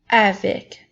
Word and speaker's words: avec: Maintenant, nous avons le mot « avec ». Comme dans les phrases « je joue avec mon ballon »,« ma sœur marche avec le